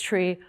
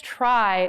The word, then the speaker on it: trie: Note that this is not a certain related structure, which also unfortunately is pronounced suffix tree or suffix try if you dislike ambiguity.